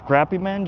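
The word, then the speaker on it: Crappie Man: I asked him, "Is your name crappy man or crappy man?" He said, "No, man. You said it right the first time cuz I I hear people say it both ways. But I did confirm with him it's crappy man jigs. Crappy. Not good but crappy.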